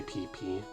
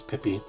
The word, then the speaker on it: Pippi: I did mispronounce that word. I did say PP. I did have a little laugh about it, but no, pretty sure her name's Pippi.